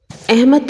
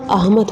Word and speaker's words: احمد: بلکہ مشاہدہ ہوتا ہے۔ احمد نہیں ہوتا، احمد ہوتا ہے۔ اگر ہم اسے جملے